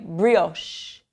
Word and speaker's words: brioche: This word right here is not an Italian word because usually in Italian, the CH word combination sounds like K. And so in this word, you actually pronounce it like brioche.